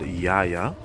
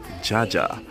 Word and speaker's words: Jaja: Okay, so I know you guys heard I said Yaya. English speaker would pronounce it as Jaja, but in Netherlands they pronounce the J as the letter Y in English, so hence why I said Yaya.